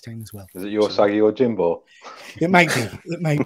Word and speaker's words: Usagi Yojimbo: I get the name on pronounce it, pronounce it, Pete. I'm a Geordie. I can barely speak English, man. Yuzagi Zo Jimbo. That was sad how close that was. No. So close. So far away. Usagi Yojimbo.